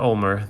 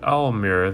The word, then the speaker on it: Almir: I skipped last time, which I think is pronounced Almir. There's no accent over the U, so I think it'd be Almer. Anyways, not Ulmer, the 3-star, but Almir, the fancy elf 4-star.